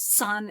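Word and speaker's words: 散: So the word powder is san, S-A-N, and the word scatter is exactly the same character, but it has a different tone for the pronunciation.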